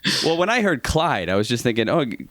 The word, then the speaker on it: Chluaid: it my brain it how is it actually pronounced Clyde Clyde but I really can't hide I don't care